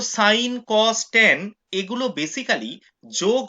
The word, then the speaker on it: sine: সাইন SIN, কেউ সিন উচ্চারণ করবে না, সাইন, পুরো কথাটা হচ্ছে SINE।